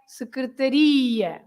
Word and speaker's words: secretaria: And because there is an ia, you stress the end, right? You say secretaria, secretaria. But if you have an accent on ta, then you have to say secretária, secretária.